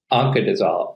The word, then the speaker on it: Oncadizol: Oncanz- Oncadizol. O N C A D I Z O L. It's like oncologist. Just like oncologist, only you add the end of fenbendazole, oncadizol.